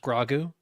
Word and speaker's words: Grogu: It's pronounced grogu actually.